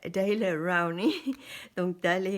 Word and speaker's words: Daler-Rowney: Euh en anglais on prononce ça Daily Rowny.